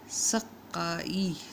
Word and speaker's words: سقائی: تلفظ واضح ہو جائے۔ سقائی، سین کے اوپر زبر، کاف کے اوپر شد یا تشدد یا تشدید اور اس کے اوپر زبر، حمزہ کے نیچے زیر۔ سقائی۔ خاکستر، خے کے اوپر